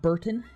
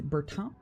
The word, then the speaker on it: Bertin: This one is not Burton, it's Bertin, right?